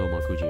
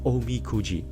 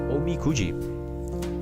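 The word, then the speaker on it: おみくじ: I think it's called Omakuji, right? I I I don't have a clue. Let me check. It's called Omi Kuji. My bad. Sorry, I butchered the name again. Uh Omi Cooji.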